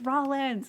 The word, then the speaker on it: Rawlins: interesting I mean um say his name it's Rollins yeah I know it's Rollins but that's where um